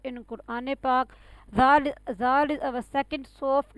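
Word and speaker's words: ذ: Zal is our second soft letter in Quran Pak.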